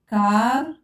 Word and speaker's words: car: Si avec A, O, U se prononce K. Exemple car, côté, culotte.